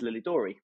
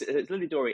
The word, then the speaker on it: Lilidorei: So again, from the Duchess, her vision is that it's Lilidorei. So we need to try to think of a way to use the word so that people can pronounce it correctly. It's Lilidorei, and the whole concept,